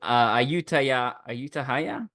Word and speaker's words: Ayutthaya: Ayutthaya? Is that how I pronounce it?